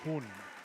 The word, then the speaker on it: Huynh: But he pronounces his last name as Hun. Oh, Exact okay. same spelling. Okay. Also Vietnamese, but yeah, pronounces it differently.